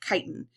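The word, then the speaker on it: chitin: I know that looks like chitten but we pronounce it kiten and so that's that kind of spongy texture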